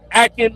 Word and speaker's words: Akin: Literally the weekend before down in Miami, there was a young man named Aeen Liverpool. Li uh yeah, Liverpool or uh Akin Liverpool. His his first name is spelled A K I N.